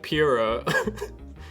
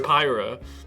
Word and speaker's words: Pyra: could just be team like pira wait uh but it's pronounced pyra pyromithra in smash if we